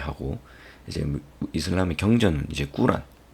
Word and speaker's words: 꾸란: 이제 이슬람의 경전은 이제 꾸란, 옛날엔 코란 뭐 쿠란 뭐 이렇게 적었던 것 같은데 요즘에 원어민 발음은 꾸란이 좀 맞는 것 같아요.